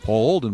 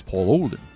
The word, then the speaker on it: Paul Olden: comes in he's like you're pronouncing my name wrong because i he he was the play-by-play guy for the jets and so i was doing a jet highlight and i'm like paul holden with the call here on wfan jets win whatever he's like you're mispronouncing my name i said it's paul no it's paul olden i said no i'm